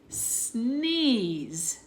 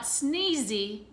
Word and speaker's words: sneeze: what is that uh sneeze sneeze so those two words Ron don't they breeze and sneeze all right sneeze sneeze you know here it's not sneezy that E is silent you can't hear it alright s and ap1